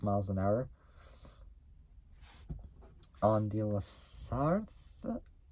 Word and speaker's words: La Sarthe: On the La Sarthe, I think that's how you say it. It's in French.